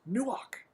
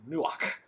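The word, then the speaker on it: נוּחַ: It's a hard CH, almost a K sound, where we almost spit that word out, the k from the back of the throat, nuach.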